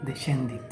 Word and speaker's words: descendit: Si encontramos una S, C seguida de E o seguida de I, se pronuncia como che o chi. Por ejemplo, descendit. La letra T seguida de